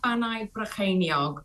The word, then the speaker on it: Bannau Brycheiniog: Would you mind very kindly telling us how it should be pronounced in Welsh? Well, the new version is now Bannau Brycheiniog, which means the peaks of Brechan's kingdom.